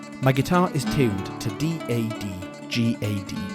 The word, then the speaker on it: DADGAD: My guitar is tuned to D A D G A D, pronounced 'dadgad'.